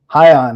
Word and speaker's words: Hyan: And we have a very exciting guest here today, whose name is much easier to pronounce because it's only 2 syllables.